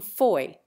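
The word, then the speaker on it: Fowey: former hailed from Plymouth the latter from Foy or as we spell it nowadays phoe now both ramatham rise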